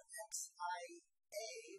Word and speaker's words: Xia: with the Xia, although there's not much, and that's spelled X-I-A, but I had a Chinese lesson today that's pronounced Xia.